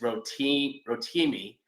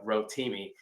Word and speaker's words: Rotimi: If you're trying to pick out how to say the name, it's Rotimi. That's like rotini pasta with an M. So Rotimi.